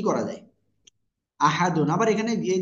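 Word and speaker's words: أَحَدٌ: হাফেশু কুলহু আল্লাহু তারপরে হামজা জবর আ হা জবর হা আহা ডাল দুই পেশ দুন আহাদুন এখানে আমরা যদি থেমে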